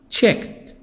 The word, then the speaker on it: checked: a single house check checked checked the D T in the past D I really t I pronounced it T because there is a cat sound check checked checked examine